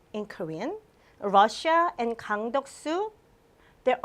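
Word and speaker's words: 러시아: it is Rossia right Russia but we pronounce Rossia and the last one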